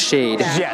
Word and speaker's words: Shaed: anyone who's not sure it is pronounced shade shade Alexa doesn't know